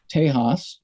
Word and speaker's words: Tejas: post they took that break you know after tejas that's how you pronounce it um and came back with the